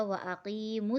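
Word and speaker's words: وَأَقِيمُوا: صاد سے ملانا ہے۔ یہاں پر یہ جو دو الف ہے، یہ دونوں الف سائلنٹ ہو جائیں گے، نہ ہمیں اسے ہجے میں ملا کے پڑھنا ہے اور نہ ہی ہمیں اس کو ملاتے وقت پڑھنا ہے۔ تو ہم میم کو ڈائریکٹ صاد سے ملا کے پڑھیں گے تو ہوگا وَأَقِیمُوا الصَّلَاةَ۔ صاد کے اوپر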